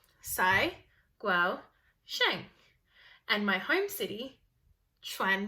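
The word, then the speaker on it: Cai Guo-Qiang: name is saigo jang here's how to say my name sai gual shank and my home city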